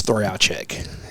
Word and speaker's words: Trojacek: butcher it well so the correct pronunciation is throw out check wow yeah so but